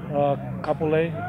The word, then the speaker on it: Kapolei: He's from Kapolei, is that how you pronounce it? Kapolei.